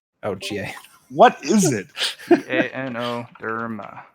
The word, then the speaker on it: Ganoderma: How do you spell that? Gar. Ganoderma. It's actually what. Garn. Gano. Gano. Oh, Ga. What is it? Ganoderma.